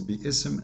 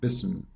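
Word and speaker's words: بسم: fact it is there if you want to say the word correctly it is B ISM not business this hymn is very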